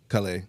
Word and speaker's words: Callais: Versus Callais.